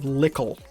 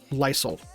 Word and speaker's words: Lysel: artist, she's an Australian by the name of Lickle, or Lysel, I think is the actual pronunciation of her name, but I watch too many Canadian streamers that call her Lickle.